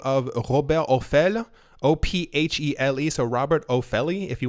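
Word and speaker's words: Ophèle: So from a recent interview with a magazine known as Challenges, someone by the name of Robert Ophele, O-P-H-E-L-E, so Robert Ophele, if you want to pronounce it that way, who is the president des Autorités des Marchés Financiers, AMF.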